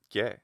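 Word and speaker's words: καί: So Kiai, long vowels like diphthongs get shortened in front of other vowels. So not merely kiai eutheos, but kiai eutheos gets shortened, which even might end up being just kie if you're saying it really fast.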